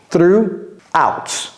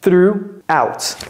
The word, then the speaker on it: throughout: nuit word through out ne prononcez jamais le G ni le H through out c'est comme si le G le H n'existait même pas through out donc la phrase devient